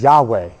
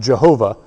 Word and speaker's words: Yahweh: And he gets this this inhale exhale this yode vave response which is Yahweh yode vave Yahweh mispronounced Jehovah later on but Yahweh is his